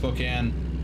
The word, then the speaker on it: Spokane: changing to Red I don't know why it's pronounced Spokan when it's spelled Spokane um a lot of